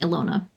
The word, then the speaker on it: Ela: change relied on it Nice to have it confirmed that it is in fact pronounced Ela.